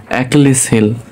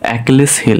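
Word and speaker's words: Achilles heel: প্রথমে আছে একলিস হিল। বানানটা দেখব এ সি এইচ আই এল এলই এসলিস হিল। এখানে আমরা এটা সিলিস মনে হইতে পারে। কিন্তু এ সময় কা উচ্চারণ হয় তাহলে একলিস হিল একলিস হিল অর্থ কি দুর্বলতা দুর্বলতা বা উইক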